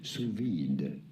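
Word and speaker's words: sous vide: So it sounds like the d. So if I remember my French, like if there's a v if there's a e after a consonant, then you pronounce the consonant. I I feel like that is a rule in French.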